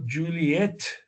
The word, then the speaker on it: Juliet: The correct way to say J is also Juliet, with the last ETT being emphasized.